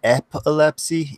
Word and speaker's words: epilepsy: aware of now yeah well it's app it's pronounced epilepsy you put an S in there I don't